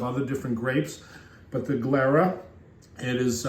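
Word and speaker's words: Glera: in 15% of other different grapes but the glara it is spelled g l e r a glara is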